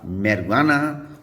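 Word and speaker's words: marijuana: जे में आपके सामने दो वर्ड्स हैं इंग्लिश में जहाँ पर जे साइलेंट हो जाता है। एक है आपका मैरिजुआना और दूसरा है एल पेनो, जहाँ पर जे आपका साइलेंट हुआ करता है।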